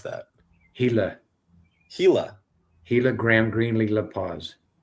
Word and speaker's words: Gila: How do I pronounce that? Hila.